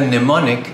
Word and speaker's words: mnemonic: On the other hand, mnemonic has a silent M and the first part of the word is pronounced nem, rhyming with M.